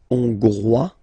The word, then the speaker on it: Hongrois: Hongrois, Grois, Hongroise. Okay, so here final S not pronounced for the masculine form, and then you pronounce it here for the feminine form.